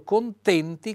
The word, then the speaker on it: contenti: Vedete questo contenti con la e chiusa.